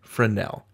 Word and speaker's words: Fresnel: that in the US, you don't say the S, you say it Fresnel, accent on the Nell.